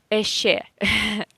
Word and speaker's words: еще: Many foreigners who learn Russian, they make this mistake and say еще or something like that. If you see ye in the beginning of any Russian word, you have to pronounce it with y sound.